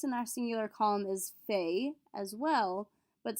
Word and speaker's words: fait: The entire first column is all pronounced fait. Je fais, tu fais, il fait, elle fait, on fait. The only difference is if we end in an S or a T.